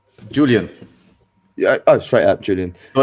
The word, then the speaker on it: Julian: How do you pronounce Julian? Julian. Yeah. Oh, straight up, Julian. So in German, we will say Julian. So this is Julian.